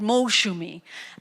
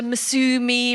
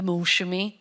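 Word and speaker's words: Moushumi: It was the problem with the S. They didn't put the H in, and so she turned into Masumi, Mausumi, and this beautiful Bengali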